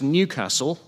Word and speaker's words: Newcastle: Known simply as Newcastle or as it is pronounced by its locals, Newcastle, the city is on